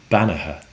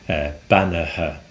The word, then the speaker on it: beannaithe: And the answer to that is Bannaha. Bannaha. That's Beannaithe, which is spelt a little bit differently to what it sounds like. Bannaha.